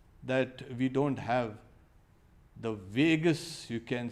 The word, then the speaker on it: vagus: Now, a monk was saying, okay, I only hope that we don't have the vagus, you can say, nerve. You know, Vegas, Las Vegas also is pronounced Vegas.